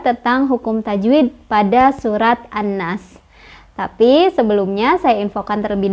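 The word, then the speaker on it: الناس: Cara bacanya, alif lamnya nggak dibaca. Jadi kita langsung baca ke huruf syamsiahnya, ke nunnya ya. Jadi an-nas.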